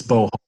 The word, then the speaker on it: Beauhal: Yeah, so Sarah, it's Beauhal, by the way.